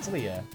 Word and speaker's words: Leia: Is it Leia or Leah? Well, it's Leia.